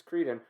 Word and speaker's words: Crichton: for michael crichton now obviously it's creden but i if if you don't want me to pronounce it don't put the ch in it right so it's stuff